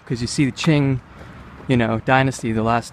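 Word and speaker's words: Qing: it was confusing me the first thing I had to learn about Chinese was how to pronounce q because you see the Ching you know dynasty the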